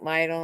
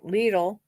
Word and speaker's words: Lidl: how you pronounce it I was calling it vital and then the cashier corrected me Lidl had not gallon sizes